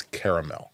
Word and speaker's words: caramel: actually and said uh it is caramel oh right three syllables I see and so